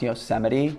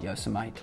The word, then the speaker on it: Yosemite: addiction on to Yosemite by the way it's pronounced Yosemite just so you don't embarrass yourself in front your friends and call it yo some I'd can't tell how many awkward conversations I've had